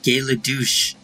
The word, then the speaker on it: Gay LeDouche: I'd say most of the recurring characters are pretty damn funny, like Gay LeDouche. Yes, I actually said that. And no, despite how it's spelled, I'm not mispronouncing it either.